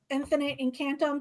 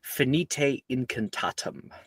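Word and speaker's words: Finite Incantatem: Infinite Encantto, that's a 17. 179. That is an E overall. Congratulations. And it is a it's fite incantatum.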